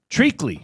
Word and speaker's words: treacly: Treacly.